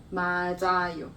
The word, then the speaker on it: 맞아요: Like matcha. 맞아. But that's different pronunciation. 차 and 자 is different. But this one is something that many people get confused. 차, it's the same for me. I'm gonna. This 자, is more like, 자.